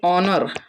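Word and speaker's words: honour: चलिए बताइए ऑनर, एच ओ एन ओ यू आर, ऑनर के लिए क्या लगेगा, ऑनर में भी यस साइलेंट है तो ऑनर के लिए भी एन लगेगा।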